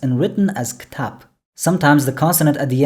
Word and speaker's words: кітап: The Arabic word for book originally has b at the end, but in Kazakh it's pronounced and written as ktab.